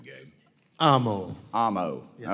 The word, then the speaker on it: Amo: how do you say your last name Gabe Amo Amo all right brother I got Ito well